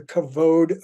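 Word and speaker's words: כבוד: understand pursuing God's presence first of all it's pronounced covered already this is a really common uh sort of interpretation of the word kavoda it's actually kavod I love the Hebrew word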